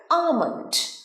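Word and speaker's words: almond: কি বলো জানো তো আলমন্ড সব ভুল উচ্চারণ কারণ এল টা প্রোনাউন্সই হয় না এলটা সাইলেন্ট কি বলবে আমন্ড আমন্ড ক্লিয়ার আমন্ড এল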